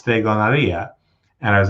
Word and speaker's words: stregoneria: said, you know that it's not pronounced stregoneria, it's stregoneria.